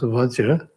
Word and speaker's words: Vajra: Then next is Vajra, so in Sanskrit Vajra, and that maybe was and still is in India, pronounced as Vajra.